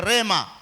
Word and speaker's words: rhema: Na neno la kwanza linatamkwa kama lagos. Lagos iso na i mwisho. Na lingine likiwa linaitwa Rema.